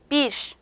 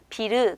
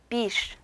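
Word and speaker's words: bir: 마지막에 위치를 했죠 자 이 때는 비를 이렇게 발음 하시는 것이 아니라 조금 바람 빠지는 소리가 납니다 한번 해볼게요 비 빗 그래서 비르 이렇게 래 소리가 정확하게 나는 것이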